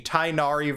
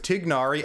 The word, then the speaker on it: Tighnari: to side with griffin also on the tainari versus tignari versus actual arabic pronunciation that my dumb american brain that's been speaking english its whole life can't roll the right letters the right way to properly pronounce i'm going to go with tignari as it is closer to the correct pronunciation than tynari i believe his voice actor will however say it tainari now one time where